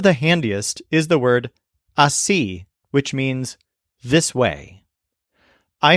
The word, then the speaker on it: así: One of the handiest is the word así, which means this way.